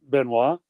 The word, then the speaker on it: Benoist: there's a few people around know how to pronounce benois and he says what are you doing Friday